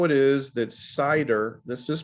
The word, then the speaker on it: CIDR: and then we'll present how it is that cider this is pronounced cider cidr that stands for classless Internet domain routing right cider it's an adaption of how you use the